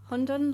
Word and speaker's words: Hundun: decided to again leave your job and start Hundon Labs. Did I pronounce that correctly?